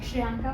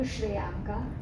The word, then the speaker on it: Shriyanka: Shriyanka, welcome to the show. Thank you so much. Welcome to the winning story. Thank you. My first question is, how many times have people called you Shriyanka instead of Shriyanka?